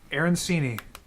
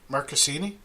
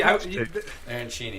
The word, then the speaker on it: arancini: Arancini. Who? What? Am I not saying it right? Marcassini? Spell it for me, Ty.